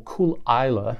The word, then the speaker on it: Caol Ila: but in this particular instance, this is a Caol Ila or Caol Ila, depending on how you want to pronounce it.